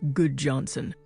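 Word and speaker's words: Gudjonsen: My name is Good Johnson, spelled G U D J O N S E N, but pronounced Good Johnson.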